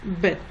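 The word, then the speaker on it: בּ: Quand il y a le dagesh, la lettre se prononce bet, comme dans bait, qui veut dire maison.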